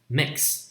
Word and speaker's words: mix: Mix, m I k s, mix, m I k s. So although it's spelled with x, it consists of two consonants, k and s.